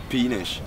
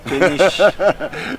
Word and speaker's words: péniche: That's Peenish. Péniche. You must be very careful the way you pronounce it.